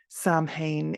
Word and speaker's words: Samhain: In Irish Gaeilge, it is pronounced Samhain, as I said, with sow as in female pig.